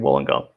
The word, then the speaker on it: Wollongong: do you say it it's the University of Wollongong and that is in New South Wales that's